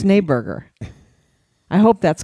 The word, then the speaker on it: Schneeberger: It's Schneeberger.